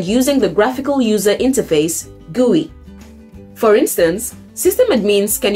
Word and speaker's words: GUI: microsoft's current and future products number five many guise are powershell front ends pronounced gui a gui is simply a user